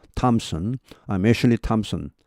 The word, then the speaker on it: Thompson: 여기 발음은 Thompson 아니고 텀이다. Thompson 할 때 이것은 T 발음하고 똑같습니다. 이것은 the 이렇게 안 납니다. the로 안 나고 그냥 T하고 똑같습니다. take 할 때, took 뭐 이렇게 할 때 그 이 T와 똑같은 말 Thompson입니다.